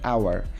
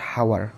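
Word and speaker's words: hour: একটু খেয়াল করো, অ্যান আওয়ার উচ্চারণটা কিন্তু নট হাওয়ার, এটা কিন্তু হাওয়ার না, এটা হচ্ছে আওয়ার।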